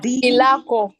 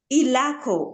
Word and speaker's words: Ilako: Lako, is it Ilako? I don't know. Daniel, Carl, Eddie, Fiona B. It is Ilako. Ilako, okay. Now I will not pronounce it wrongly any other time.